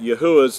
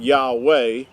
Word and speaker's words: Yahuah: And that's another reason why his name is not Yahweh, and we'll talk about that in another session, but his name is Yahuah.